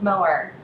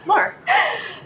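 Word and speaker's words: Moher: number two was exploring the Cliffs of mower am I saying it right mower time yeah more but uh yeah what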